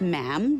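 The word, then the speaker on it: ma'am: um and after that it's just mam rhymes with jam and it's always a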